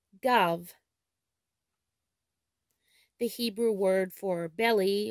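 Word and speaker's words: גב: In Hebrew, the word back is pronounced gav, gav.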